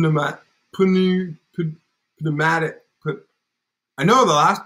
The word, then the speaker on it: pneumatic: that word putting them up putting you could pneumatic but I know the last part is Maddox